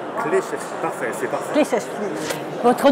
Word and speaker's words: Kleczewski: Bonjour Hervé Kleszewski. Kleszewski, parfait, c'est parfait. Kleszewski. Votre nom est toujours un peu difficile à prononcer.